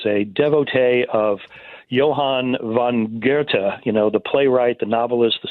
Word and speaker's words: Goethe: devotee of Johann von Goethe, the playwright, the novelist, the scientist from Germany. That's how you pronounce the name. But we pronounce Goethe, Goethe.